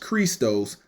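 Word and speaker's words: Χριστός: When we look at the word Christ in that verse, it's G5547, pronounced Christos, meaning anointed.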